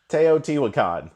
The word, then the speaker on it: Teotihuacan: and tio2 hula con I still cannot pronounce that game name and I know that the people who are helping out film the show over there are probably laughing at me for that we got a pronunciation teotihuacan perfect and in our announcements